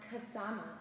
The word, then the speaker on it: Ksama: This week we're focusing on the yama Ksama. Ooh, it rhymes.